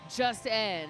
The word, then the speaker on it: Just N: They say it's just pronounced. Just N.